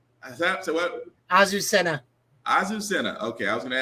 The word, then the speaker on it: Azucena: Azucena.